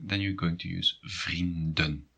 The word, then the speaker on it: vrienden: And if you have issues with pronunciation, it might be quite tricky to make the distinction between vriendin, female friend, and vrienden, friends. So pay attention to that. It's vrienden and vriendin.